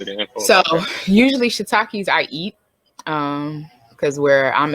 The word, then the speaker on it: shiitake: personal question, and I was interested in shiitake.